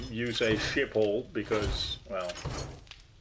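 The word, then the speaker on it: Schiphol: It was a is shipple airport. Yeah, you pronounce it.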